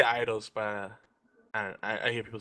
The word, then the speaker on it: Eidos: I say idols, but I hear people say it different ways.